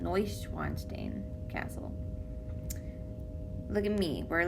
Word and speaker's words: Neuschwanstein: neues neusch weinstein stain eu's oi sound neuschwanstein castle look at me